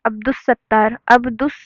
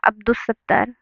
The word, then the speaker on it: عبدالستار: ایسے ہی عبدالستار الف اور لام کہیں پہ پروننسیشن یعنی اچارن یعنی کہ تلفظ میں کہیں بھی الف لام کو نہیں پڑھا گیا. عبدالستار.